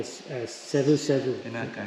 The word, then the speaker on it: Savusavu: And thanks for accepting my Savusavu. Is that how you say it, right? Yes.